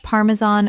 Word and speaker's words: Parmesan: The stress is on the first syllable. And the final -an sounds like the word tan. Example. She grated fresh Parmesan over the pasta.